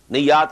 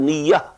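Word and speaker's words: نية: Niyyat is the plural of niyyah. This is commonly used in Urdu also. We pronounce it as niyyat. But this is niyyah in Arabic.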